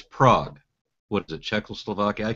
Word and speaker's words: Prague: and I said you you live in Prague and he got really angry and he said that's prag yeah okay sure pra again I'm I'm certain he's pronouncing it wrong I know where it